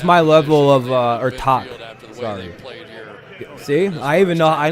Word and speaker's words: Tag: level of uh or talk see i even know i know how to say it right gutentin talk not tad or todd it's talk well it's like a k sound january